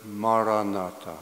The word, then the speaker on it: Maranatha: And the word I recommend again is the word Maranatha. 네, 제가 추천하는 단어는 마라나타입니다. If you choose this word, say it as four syllables, ma, ra, na, ta.